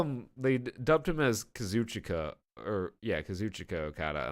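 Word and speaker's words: Kazuchika: an interview the old himself tell me it's pronounced kazoo chica I think he'd know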